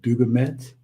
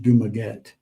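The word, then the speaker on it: Dumaguete: How do you pronounce that? Duget. Dumaget. Dumaget.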